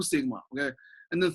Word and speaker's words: sigma: Okay, pronounced like sigma.